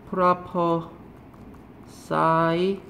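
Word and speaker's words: prophesy: 얘는 뭐야 그러면은 예언자예요 얘는 properse라고 발음하고요 예언 프리딕션 얘는 동사예요 프라퍼 싸이라고 발음이 얘는 예언하다에요 이런 단어들은 얘들아 무슨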